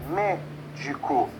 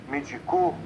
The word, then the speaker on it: médico: Então, quando você pronuncia a palavra, por exemplo, a palavra médico, você sabe que é médico e não medicou ou medico.